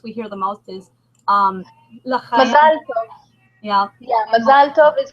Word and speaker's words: Mazal tov: I'm saying it in a Jewish accent and not in an American accent, but yes, it's Mazal tov.